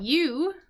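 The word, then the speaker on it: ewe: basically anyways a female sheep is a u pronounce like the letter U so we got a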